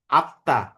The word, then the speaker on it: আত্মা: হ্যাঁ সরি এটা না হবে লেখরূপটা কি ধনি তাত্ত্বিক নয় যেমন ধরো আমরা আত্মা আত্মা বানানটা লিখি কি এভাবে তাই না এখানে কিন্তু ম এর উচ্চারণ আমরা করি না বা ধরো পদ্ব পদ্ব